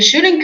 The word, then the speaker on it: should: You shouldn't catch the train.